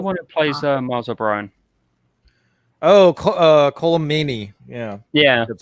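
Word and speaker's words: Colm Meaney: Colomani. Yeah, that's how you say his name. Mm-hmm. I always pronounce those names wrong.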